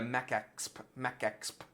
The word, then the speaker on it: MecExp: is Mechanical Exploration, but if you were to pronounce it the way it's written on all their social media, MecExp, it's a little bit like Tex-Mex.